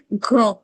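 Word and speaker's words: grand: इट एज ओ और जो डी है लास्ट में वो साइलेंट कंसोनेंट है we don't रीड सो so this will be ग्रो। अगर इसको प्लूरल बनाना है तो we will add एस but like it it will sound same.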